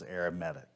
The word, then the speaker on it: arithmetic: so welcome to arithmetic sequence I know that says arithmetic but that's how it's pronounced as arithmetic this is a sequence formed by adding the